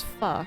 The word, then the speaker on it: pho: Oh wait, I was saying it wrong. Silver told me about this. I've been saying it pho for years. It's pho, right?